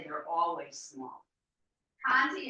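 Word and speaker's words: Conté: Conti is spelled C-O-N-T-E. I'll put it in the chat box. Those of you who are here, C-O-N-T-E. Conti.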